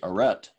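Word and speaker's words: arête: as an english word we pronounce it aret and it's that top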